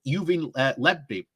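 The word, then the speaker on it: Lebedev: Johnson's decision to give Yuvin Lebedi, that's how you say it, a peerage was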